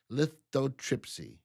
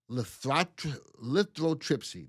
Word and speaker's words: lithotripsy: Drug company Abbott gets FDA approval to begin the trial of intravascular lithotripsy. Any medical people in here? Did I say that right? Intravascular lethroy.